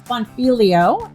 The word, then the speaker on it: Bonfiglio: Her name is Patrice Bonfiglio, and I think I got that last name right. Since the G is silent, I want to highlight that.